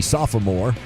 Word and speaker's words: sophomore: Texter also pointing out sophomore. I mispronounced. It should be sophomore, which I believe Keith Jackson dominated.